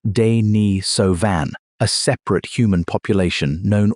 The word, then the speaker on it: Denisovan: Her father was a Denisovan, pronounced "day-nee-so-van", a separate human population known almost entirely from DNA.